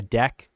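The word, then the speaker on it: deque: is going to be a double-ended Q AKA a deck I'm pretty sure that's how it's pronounced so pop three append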